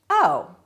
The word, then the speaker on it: oh: So two O's is ooh, one O is oh.